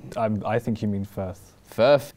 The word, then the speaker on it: Firth: I think you mean Firth.